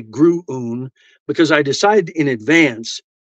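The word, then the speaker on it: Gruoon: It's spelled G-R-U-U-U. That's not how it's spelled. G-R-U-O-O-N. So in my head earlier, I said, that's going to be gruun.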